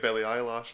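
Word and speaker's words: Billie Eilish: just reminds me of Billie Eyelash line.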